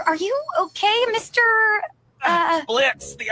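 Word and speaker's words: Blitzø: Uh, Blitz? The O is silent.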